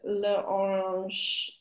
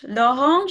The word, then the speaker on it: l'orange: It's le orange. L'orange is correct for orange, but something goes before we get to orange.